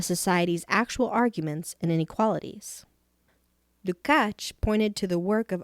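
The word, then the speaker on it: Lukács: the hungarian critic george lucac 1885 to 1971 pronounced lucach has become associated with the term reflectionist to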